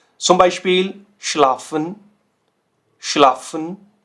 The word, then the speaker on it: schlafen: तो देखिए एस से हा, एस से हा और एस से हा साउंड क्या कर रहा है, श, राइट।